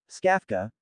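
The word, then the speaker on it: Czkawka: Pronounced as skafka, which means hiccup, in Polish, skafka does a decent job of removing junk files from your computer.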